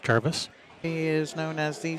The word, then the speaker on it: Jarvis: Yeah, it's pronounced Jarvis.